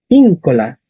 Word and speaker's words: incola: Íncola, íncola.